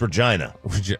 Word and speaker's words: Regina: It's Regina. Sorry. What was that? It's pronounced what? Regina.